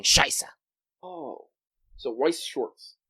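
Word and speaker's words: Weiß Schwarz: I don't know why they chose to write the dumb German B like 2 S's, but it's Weiss Schwartz.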